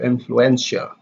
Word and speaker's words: influential: Influence, the stress is on influence, the first syllable, and then the adjective you have influential, the third syllable.